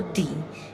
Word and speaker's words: the: So the और दी, इन दो तरीके से हम इसे प्रोनाउंस करते हैं. तो द कब बोलेंगे और दी कब बोलेंगे. अगर द के बाद आने वाला वर्ड वोवल से शुरू होगा तो हम दी बोलेंगे.